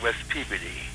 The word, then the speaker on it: Peabody: Yeah, where they call it West Peabody. West Peabody? Yeah. That's the way they pronounce it there?